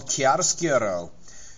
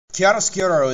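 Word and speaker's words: chiaroscuro: drawing and painting and it is called Kar skuro just kidding it's actually called curcuro kiaro sko is Extreme contrast between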